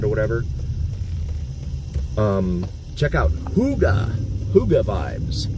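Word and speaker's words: hygge: whatever um check out Huga Huga Vibes h y g g e it's a hotel Yankee golf golf Echo but it's pronounced Huga like the old horns and uh stuff on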